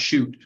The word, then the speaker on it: Shute: Shute, and it's pronounced Shute, by the way, would grant the same right.